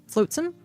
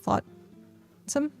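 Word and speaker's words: flotsam: Then watch how people mispronounce that name. Oh, well, I actually it took me a while. I was saying floatsome like floatsome uh instead of saying flatom.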